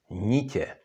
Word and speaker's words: nitě: And if you say this word, again, n is followed by měkké i, and t is followed by s háčkem, and then, of course, you cannot pronounce them nt, but nětě, so you get nitě, which is threads.